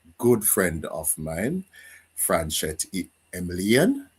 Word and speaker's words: Emilien: I have a very special guest, a very good friend of mine, Franchette Emilien. Right, Franchette, that's how I Yes.